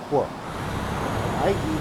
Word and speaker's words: quiet: Second one, qu. IET is diet. Another similar word is diet. Quiet. Diet.